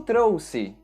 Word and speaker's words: trouxe: E no caso de todas essas palavras, a letra X deve ser pronunciada com o som da letra S. Eu trouxe.